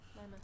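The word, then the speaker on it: Lemmeth: Lemeth. L-E-M-M-E-T-H. Lemeth. You're gonna have to spell that again for me, back.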